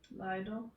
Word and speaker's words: Leider: Leider.